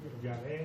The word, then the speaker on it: Yahvé: Lo que más se acerca al nombre no es Jehová, es Yahvé.